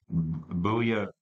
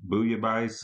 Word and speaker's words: Bouillabaisse: And I have to explain, and this is a hard one for me to pronounce. The album is called Bouillabaisse, The Best of Fish. Bouillabaisse is a like an alphabet soup.